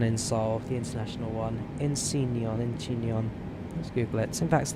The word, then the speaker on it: Incheon: Incheon.